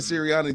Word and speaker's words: Sirianni: just can't run on them so I understand Sirianni is that I pronounce it yep so I understand siriani this is one of those things you come